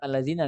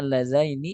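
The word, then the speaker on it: اللذين: Karena dia nggak fokus ke harokatnya, ya udah dibacanya allazina, allazina, allazina adallana. Harusnya allazaini adallana seperti itu.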